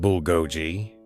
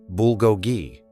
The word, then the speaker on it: bulgogi: He exaggerated the syllables, dragging the word into a caricature. His friends burst out laughing. The chef looked up, confused but polite. "It's pronounced bulgogi," he said softly, the accent gentle but distinct.